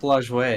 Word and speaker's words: Lajoie: The Napoleons were named after Nap Lajoie, and that's It's Nap Lajoie. Everyone knows that. Lajoie. Sorry. Everyone knows how to pronounce it.